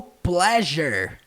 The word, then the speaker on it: pleasure: No pleasure cruise. Percebam a pronúncia do pleasure. Tem um som de J mesmo.